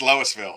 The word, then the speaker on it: Louisville: to know what Smurf doesn't know how to pronounce it. Okay. Is it Louisville? Yes, it's Louisville.